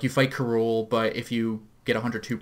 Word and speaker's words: K. Rool: I mean, technically, if you want to pronounce his name how they were probably going, you should just call him Cruel.